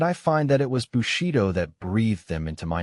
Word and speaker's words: Bushido: Pronounced Bushido.